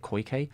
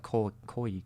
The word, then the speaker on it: Koike: And after that point, both of the fellas, Koike, I think you say it Koike. I said Koike in the video, and I was wondering about this. I think it's like Koike. So it's basically Koike.